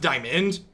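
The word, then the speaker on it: Dimon: the issue with Jamie Des Moines or Des Moines, however that pronounced is? Pronounced Diamond.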